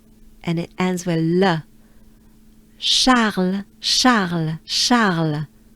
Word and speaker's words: Charles: Charles, Charles, Charles. Right? Let's do it together, ensemble. Let's take a good breath. Charles, Charles.